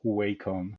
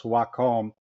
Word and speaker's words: Wacom: You you don't don't ever pronounce uh Wacom as WCOM. Oh, okay. And it should set up the tone for our conversation because Waccom is a Japanese expression